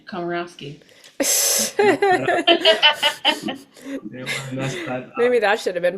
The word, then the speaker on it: Komorowski: Christina how do you say your last name karowski maybe that should have been part of the